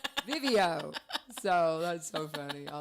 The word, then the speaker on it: Vivio: It's just Vivio, and they're like Right. Vizio, video, no, Vivio.